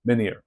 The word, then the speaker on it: menir: And in Portuguese, we use the same word, but without an H, and it is pronounced menhir.